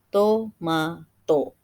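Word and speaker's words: トマト: Misal dari kata tomat, T yang di ujung itu berdiri sendiri maka ditambahkan O. Tomato.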